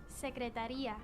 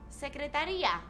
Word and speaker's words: secretaría: There's an accent there. La secretaria. Secretaría. Secretaria. La secretaria. Not secretaria, secretaria. Secretaría. Secretaria. Secretaría. Se. Small but important difference in my opinion.